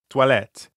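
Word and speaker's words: toilettes: where are the bathrooms there's an s at the end of the word for bathrooms even though you don't pronounce it perfect we're hearing the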